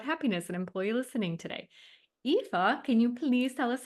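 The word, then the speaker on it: Aoife: I always tell people read it backwards read it as if it's EFA so it's pronounced epha O'Brien it's a very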